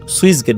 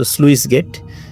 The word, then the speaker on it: স্লুইস গেট: অনেকে আমরা উচ্চারণ সুইস গেট বলি। তো এটা মূলত স্লুইস গেট।